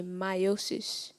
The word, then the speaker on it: meiosis: Am I pronouncing the word properly when I say meiosis?